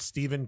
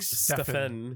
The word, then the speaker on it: Stephen: your parents are dumb because PH is a F sound, not a V sound. So really, That's they're right. pronouncing it So wrong. it's like Stephen.